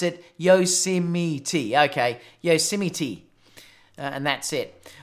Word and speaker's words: Yosemite: are so he owned a bound saying you pronounce it Yosemite okay Yosemite and that's it all right so